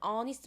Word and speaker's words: honest: An honest man. 지금 요 단어 같은 경우는 쌤이 얘기했듯이 H의 발음이 실종되고 O 발음부터 나잖아요.